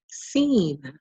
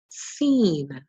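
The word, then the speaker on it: سين: And this letter is pronounced seen, seen. It makes the s sound.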